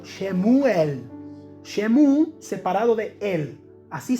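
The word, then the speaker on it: שְׁמוּאֵל: Samuel, Samuel en hebreo, yo no soy experto hablando hebreo, pero en hebreo suena algo como Shemuel. Shemu separado de él. Así se pronunciaría el nombre de Samuel. Shemuel.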